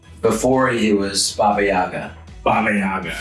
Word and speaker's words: Baba Yaga: of John Wick before he was Baba Yaga Baba Yaga right that's how you say it I was